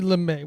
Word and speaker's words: Lumet: Sidney Lumet, and Lumet is spelled very French. Lumet. Lumet. You kind of like really lean back on the T there.